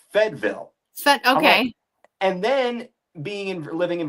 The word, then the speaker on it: Fayetteville: And then furthermore, my in-laws being from North Carolina, born and raised, but it's not Fayetteville. They pronounce it Fedville.